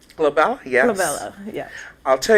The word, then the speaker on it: Glabella: And am I saying it right, Glabella? Glabella, yes.